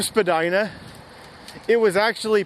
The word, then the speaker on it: Spadina: to spell that word, people started pronouncing it differently, and now the common pronunciation of the word is just Spadina. But if you go to that museum, I believe they still use the original pronunciation, Spadina.